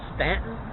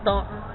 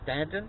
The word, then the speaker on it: Staunton: sure to call it stanton it is not staunton there's a u in it s-t-a-u-n-t-o-n but they pronounce it stanton that's what the locals